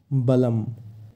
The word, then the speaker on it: বলম: যেহেতু অনক্ষর আছে শেষে তাই ময়ের উচ্চারণ হবে বলম।